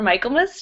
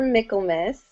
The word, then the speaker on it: Michaelmas: All right, how about next up, Haley from Carrots for Michaelmas. Did I say that right? Close. It's Carrots for Michaelmas.